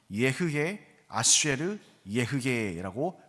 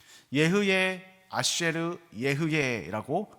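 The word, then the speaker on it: אהיה אשר אהיה: 여러분, 이 말은요, 히브리어 원어로 하면 예흐예, 아쉐르, 예흐예라고 발음이 됩니다.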